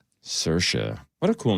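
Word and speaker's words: Saoirse: Remember she was on SNL and it's uh Cersa like inertia.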